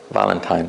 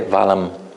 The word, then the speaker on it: Valentine: the word is Valentine Valentine so some people they would say valm Valentine with an with an M why because the the